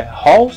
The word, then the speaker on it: Halls: A pronúncia original da bala é halls e a pronúncia da casa original é house. Halls, house. Halls, house. Original.